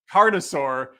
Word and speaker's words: Carnosaur: Carnosaur.